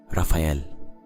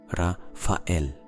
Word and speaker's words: Raphael: Raphael. Raphael. 3 syllables that for thousands of years